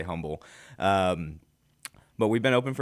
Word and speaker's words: Humble: Yeah, so we're in Humble, right by the Humble Civic Center, actually. Silent H Humble. Yeah, don't say humble. I learned that when I moved into this area. It is not humble. People will correct you.